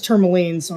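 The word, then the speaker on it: Termalaine: He got 4 tourmalines. Is it tourmaline or tourmaline? Oh. I keep saying tourmaline, but Pat says tourmaline, so I'm like, well, am I wrong?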